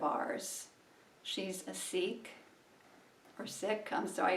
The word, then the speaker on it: Sikh: she's a sikh or sick i'm sorry it's some people say seek but it's actually pronounced sick the sick faith she's